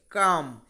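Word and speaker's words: calm: ইংরেজি কি দেওয়া যায় কাম এল এর উচ্চারণ হবে না কালম হবে না কিন্তু কাম অথবা কোয়াইট তাই না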